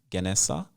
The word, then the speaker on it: Gènèsá: Um yeah, and it's pronounced um yeah, Ganessa. It's pronounced Ganessa.